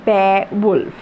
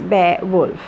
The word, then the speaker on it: Beowulf: have been the first poem, and that is Beowulf. Beowulf. It is pronounced Beowulf. Okay, Beowulf, but the pronunciation is Beowulf.